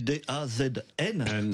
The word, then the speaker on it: DAZN: DAZN, ça s'écrit D-A-Z-N.